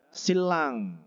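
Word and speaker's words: 신랑: Kemudian ada silang ya, bacanya gitu ya, nomor 2 ya, silang yaitu apa?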